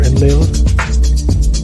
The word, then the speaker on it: Enlil: Enlil, okay? However they pronounce it, Elil or Enlil.